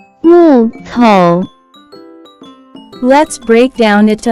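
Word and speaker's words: 木头: Next vocabulary that we have is wood, timber, which in Chinese can be pronounced as 木头，木头，木头。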